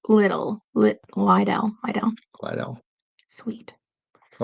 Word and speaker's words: Lidl: It's pronounced Lidl. Lidl.